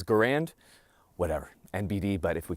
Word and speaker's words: Garand: Garand actually put out a note, and he asked that his preferred way of his name being pronounced was Garand, as in errand.